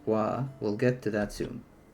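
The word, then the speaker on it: は: Okay, you probably noticed ha was read as wah.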